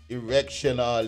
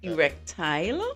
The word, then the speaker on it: erectile: I always hear the word, erectional, dysfunctional. Oh gosh, what is that? mash breaks. Erectile.